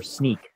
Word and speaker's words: Snyk: What I do, I am a developer advocate and engineer for Sneak, and you pronounced it correctly.